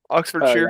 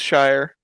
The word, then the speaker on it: Oxfordshire: the judges also also it's not sh is shear Oxford Shear yeah Oxford Shear ah uh good old pronunciation there is a there is a British man that will get upset if you pronounce sheer as Shire because he he lives in Yorkshire nature how is uh